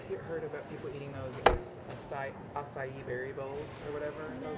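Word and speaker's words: açaí: So that's how you pronounce it. Acai.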